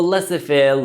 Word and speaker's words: laissez-faire: इसको लिखा तो लजीज फेयर जाता है, आखिर का जेड जो है वो साइलेंट है, तो इसको laissez-faire लीडरशिप स्टाइल कहा जाता है।